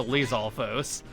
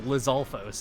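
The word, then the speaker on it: Lizalfos: enemy I'd argue we fought before is a Lealfos. These guys, why did I say it like that? It's Lzulos.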